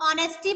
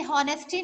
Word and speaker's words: honesty: Because ऑनेस्टी में H silent होता है. हम ऑनेस्टी बोलेंगे, हॉनेस्टी नहीं. यस मैम ऑनेस्ट होता है.